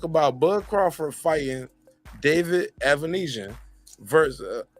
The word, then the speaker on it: Avanesyan: Bud Crawford fighting David evanesian versus did I say it right say it again uh David evanesian you got it perfect okay because they've been